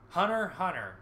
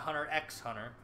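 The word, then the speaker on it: Hunter × Hunter: this is just about to come back out Hunter hunter pronounced hunter on her not a hunter x hunter as a story about going free sees a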